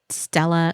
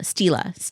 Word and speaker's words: Stila: So I I I always say the name wrong. It's Stella. Stila. Something like that.